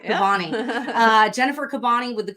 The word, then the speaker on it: Kabbany: Kabbany. You're saying it right. Kabbany.